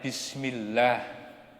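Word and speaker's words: بسم الله: Kenapa dibaca lah? Karena apa? Karena sebelumnya itu ada huruf mim yang dikasroh. Maka bacanya Bismillah. Bukan oh.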